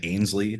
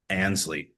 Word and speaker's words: Ansley: And I think I pronounced it right the first time because I think I've been saying Ainsley for the last 6, 9 months, and it's Ansley.